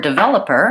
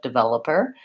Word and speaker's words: developer: developer instead of developer and so the word developer has second syllable stress which means the sound vowel should